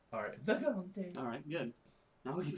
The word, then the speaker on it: Vagante: First off, you gotta say it like it's an Italian dish. You gotta call it a Vagante. Alright, Vagante.